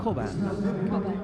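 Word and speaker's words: Çoban: She pronounces the name Koban. Yes. So Choban is the Turkish pronunciation, and it's a Turkish name. So I think we're going to go with the way that she likes it said, which is Koban, Koban because is the that's way what she- she's accustomed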